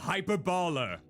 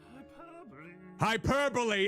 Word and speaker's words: hyperbole: I always butcher the pronunciation of that word whenever I see it. It's not hyperbole, it's hyperbole.